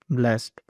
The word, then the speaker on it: blessed: It is a very interesting English word because it actually has two common pronunciations depending on how it is used.